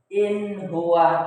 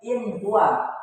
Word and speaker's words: in huwa: Maka cara membacanya yaitu in huwa. Jelas disebutnya in huwa, bukan in huwa tapi in huwa.